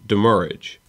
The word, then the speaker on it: demurrage: pronounce it, and also based off of the way that the original French word that it is based off is pronounced, it is demurrage.